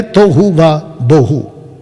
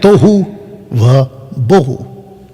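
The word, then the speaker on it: תֹהוּ וָבֹהוּ: लिखा है तोहू वा बोहू, जिसको हम सीधा बोल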